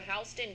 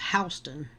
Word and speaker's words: Houston: The Georgia State Patrol issues an apology after a Houston County man. And she says Houston. I guess they pronounce Houston in Georgia.